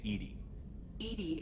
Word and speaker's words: EDI: airlock is a jar why are you named edie is the phonetic pronunciation of edi that is an acronym for